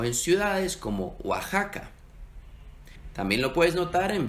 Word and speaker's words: Oaxaca: Por eso en nombres viejos, particularmente en México, ves que se utiliza la X y se pronuncia como J, como en México o en ciudades como Oaxaca.